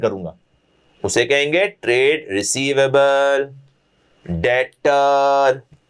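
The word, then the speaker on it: debtor: उसे कहेंगे trade receivable डेटर B silent है। डेबिटर मत बोलते रहना। नाक कटवाओगे मेरी तुम। डेबिटर नहीं बोलना। बी साइलेंट होता है।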